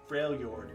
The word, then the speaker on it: Freljord: for me, PS Zombie, Fjord, I need to pronounce it. Freljord, in the Freljord.